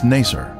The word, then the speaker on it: Nacer: the oozing gilly village its former name in the 19th century was nacer this pronunciation is similar to nicer a village that the